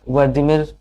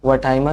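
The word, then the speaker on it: Wertheimer: वमैन Kohler कर कोफा तो इन्हें आप वर्दीमर कोलर कोफा के नाम से जानते होंगे लेकिन इसका एक्चुअल उच्चारण है वमर कोलर और कोफा इसके प्रतिपादक ये तीनों हैं लेकिन प्रमुख प्रतिपादक मैक्स वहिमर है।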